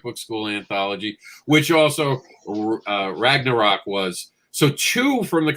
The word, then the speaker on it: Ragnarok: about best single sports ran a rock ran a rock how would you say that right ragnarok ragnarok oh that's how that's spelled all